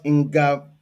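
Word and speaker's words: Ngamaleu: What about Ingamalio? Did I pronounce it well?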